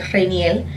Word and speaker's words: Rainier: My real name is actually Rainier, and in Spanish you pronounce it Rainiel.